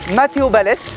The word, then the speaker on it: Matteo Balès: Alors, mon nom se prononce Matteo Balès et pas comme il l'avait fait à Fanta XU.